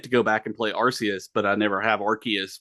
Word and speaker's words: Arceus: old in the old Pokemon movie, I think they say Arceus, and then in the new special that's on Netflix that came out around the time Legends Arceus came out, Right. they say Arceus. And then I think at one point I know the Pokemon social media was like tweeting out pronunciations of Oh yeah. things. And I think it was Arceus, yeah.